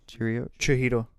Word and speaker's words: Chihiro: Chihiro.